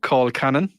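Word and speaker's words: colcannon: We put in cabbage, which turns it into something called call cannon. Mhm. Right. Wait. What was the word? Call cannon. Spell it.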